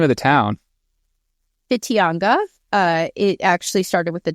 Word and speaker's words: Whitianga: Whitianga. It actually started with the WWHITINGA, but it's pronounced Whitianga in the Maori language.